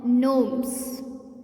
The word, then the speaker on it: gnomes: No, gnomes, because G is silent here.